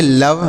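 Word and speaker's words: love: हैं एल ओवी ई तो इसे क्या पढ़ेंगे लव लव मतलब होता है प्यार लव मतलब प्यार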